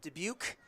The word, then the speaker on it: Dubuque: Out of Iowa, Dubuque, as we learned it is pronounced, is a redshirt freshman with the Hawkeyes.